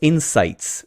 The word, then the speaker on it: Inseyets: So it's insights, right? So and that's what I thought it was, like an insight. Oh, they mean insights. as you would spell it, Insights, right? And No. yeah, well, it's actually not that. It's not Inseyets. So what they done for whatever reason is that I is actually EYE.